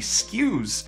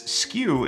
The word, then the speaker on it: SKU: In case you don't know this, SKU is spelled S-K-U because it's an acronym that stands for Stock Keeping Unit. It is not SKU like something that's a SKU.